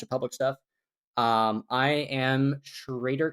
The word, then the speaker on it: Schroedter: I am Schrader, and my name is impossible to spell, so I spelled it phonetically. It is SHR, the number 8 R underscore. So that is, Schrader underscore.